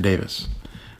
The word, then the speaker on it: Davis: You remove the E and you get the short I for Davis.